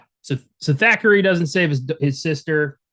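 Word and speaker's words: Thackery: you kind of say it like you do spookies. Every time you like to say spookies, you're like, Thackeray.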